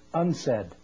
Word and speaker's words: UNCED: for environment and development it is pronounced unsaid and perhaps indicating the